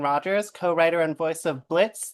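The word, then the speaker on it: Blitzø: co-writer and voice of Blitz, the O is Silent on Hell of a Boss and voice of Katie Kiljoy on Hasbin Hotel. Thank you for not dead naming me and saying Blitzo.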